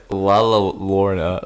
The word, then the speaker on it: Llorona: Llorona.